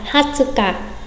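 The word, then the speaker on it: 二十日: Chúng ta sẽ đọc là hatsuka, hatsuka, hatsuka, nghĩa là ngày 20 hoặc 20 ngày.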